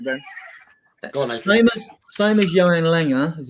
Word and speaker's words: Johan Lange: Go on, same as Johan Langer, as it's pronounced, and Chris Davies, the coach, and Scott Mann and Ange have had meetings apparently to discuss potential transfers.